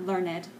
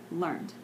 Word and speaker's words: learned: where he learned quickly and that's once one syllable learned not learn it but learned ok and then the last sentence he asked